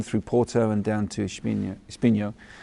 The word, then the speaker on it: Espinho: How do you pronounce it? Is it Espina? Espinho. Just Espinho.